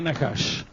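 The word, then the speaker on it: נחש: les interesa Una curiosidad la palabra serpiente en hebreo se dice Nash diga nahash así también se dice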